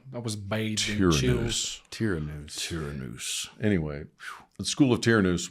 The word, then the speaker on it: Tyrannus: Royce actually brought up something that I've kind of taken hold of, which was the School of Tyrannus.